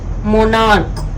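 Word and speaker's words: monarch: है ठीक है लेकिन जब हम इसको प्रोनाउंस करते हैं तो इसका जो एंड साउंड है ना वो क है ठीक है इसका मतलब च जो है वो क का साउंड दे रहा है ना कि च की साउंड दे रहा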